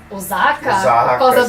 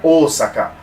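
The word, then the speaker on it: 大阪: né esse atenção dizê em português muitas vezes e japonês não é se é sempre sá nessa então é ou sacar time eo word ou sacar é um som longo tomé ou sacar ou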